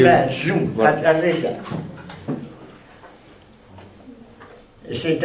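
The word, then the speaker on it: Masu: Oui, ou Mazou. M-A-S-U. Mazou.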